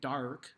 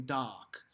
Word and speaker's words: dark: bar nine doc now i pronounce it the way we're gonna sing it we don't sing dark but we sing doc as if you're saying the dogs told me ah like it's very